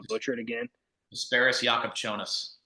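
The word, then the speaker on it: Jakučionis: Asparis Jakubchonis. Jakubchonis.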